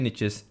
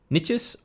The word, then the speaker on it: niches: And depending on which part of the world you're from, you may pronounce it as niches or niches.